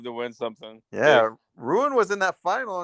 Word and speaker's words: Rune: yeah, Ruin was in that final, and Ruin, I guess Rune, you have to pronounce it.